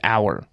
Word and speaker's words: Auer: Okay, Jason, when you pronounce Brian Auer's name, just pretend it's the unit of time that's just bigger than a minute. An hour.